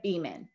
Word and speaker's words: Beaman: am so excited to be chatting with andrea beeman did i pronounce that correctly andrea that's correct okay perfect